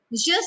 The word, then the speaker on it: je: There is nothing like J in French. So what do we say? We say je m'appelle. Je. Like it is sounding like alphabet Y.